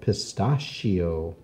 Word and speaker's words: pistachio: hangs from the ceiling so there's lots of words with ch where the CH makes the sh sound of shh let's write some down